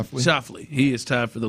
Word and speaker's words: Schauffele: Schauffele.